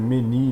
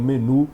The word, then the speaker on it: menu: Por exemplo, gourmet, menu, a pronúncia correta é menu, não menu, embora a gente fale menu.